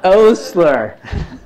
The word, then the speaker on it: Osler: mean r o Ostler how do you study pronounce his name anybody know you got this whole center here named after him right this is really important it's osler osler so I listen to